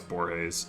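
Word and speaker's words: Borges: days I think that's I say his name I know it's borays anyway I've been this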